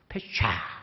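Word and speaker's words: פשע: 발음을 한번 해보십시오 하니까 패샤 하면서 하는데 따라 할 수 없는 발음이더라고요.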